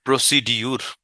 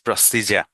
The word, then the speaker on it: procedure: Number, প্রসিডিউর, একদম গুরুত্বপূর্ণ একটা মানে ওয়ার্ড, যেটা আমরা বলে থাকি। প্রসিডিউরটা কি? That's wrong, ইস প্রসিজার। বলেন প্রসিজার, প্রসিজার, রাইট? প্রসিডিউর বলে কিছু নেই, প্রসিজার। দেখেন প্রসিজার, DUR ইজ জার, follow the procedure carefully.